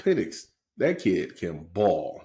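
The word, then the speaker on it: Penix: take Washington I like pennick that kid can ball they better pronounce his name as pennic yeah they should they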